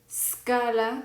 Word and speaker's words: scala: Entonces, lo que vamos a hacer es pronunciarlo ska, sko, sku. ¿Ok? Ska, sko, sku. No lo vamos a pronunciar ska, esco, escu, porque no hay una E antes de la S. Como no hay una E, solamente se suena la S. Por eso vamos a pronunciar scala, scómodo, scudiero. ¿Ok?